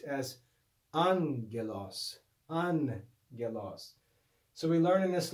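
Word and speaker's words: ἄγγελος: in this lesson that when we have a double gamma the first gamma is read as a nu so this would not be pronounced ag gelos but an elas and he tells us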